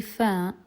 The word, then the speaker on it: ف: Firstly, fa, it happens, or the pronunciation of it happens when the bottom lip meets the upper teeth. Fa, fa, fa. And it's just the same, it's almost the same as the F sound in English.